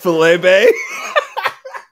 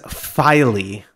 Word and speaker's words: Filey Bay: were the case no it's not filet Bay it is filey is that what that F that's what I said filey oh dude I'm just